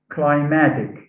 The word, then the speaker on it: climatic: happens here is that because of the influence of the suffix ic stress is shifted from the first syllable to the second syllable in the in the stem so we say climatic